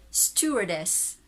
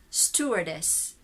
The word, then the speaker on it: stewardess: steward american stored steward british steward steward american stewardess stewardess or stewardess british stewardess stewardess stewardess stewardess stupidest